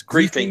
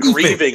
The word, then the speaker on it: griefing: Is that the correct way to say it? It's griefing. Yes. Okay. You said grieving.